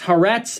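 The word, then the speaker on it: Haaretz: a higher iq they're just smarter actually it's pronounced this way it's harrett's and it's the forward two israeli media companies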